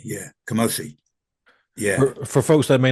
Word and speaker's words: Kamose: How you pronounce it? Kamose? Kamose, yeah, Kamose, yeah.